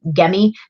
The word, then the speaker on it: Gemmy: lot too, anything Gemmy, I call it Gemmy. Apparently it's supposed to have a hard G. Somebody says Gemmy.